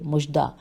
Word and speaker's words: مژدہ: کی مانند ہے۔ آئیے، مژدہ کی ہجے ہے، میم پہ پیش ہے اور ژ دال ہے، مژدہ سنانے والے کے مانند